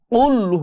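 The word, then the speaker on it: قل: এই কুল শব্দের অর্থ হচ্ছে বলো, বলো আল্লাহ এক, এবং এই কুল শব্দের অর্থ হচ্ছে খাও, খাও আল্লাহ এককে। নাউজুবিল্লাহ, কত বড় অর্থের পার্থক্য হয়ে যায় শুধুমাত্র এই কফটাকে উচ্চারণ ঠিক মতো না করাতে।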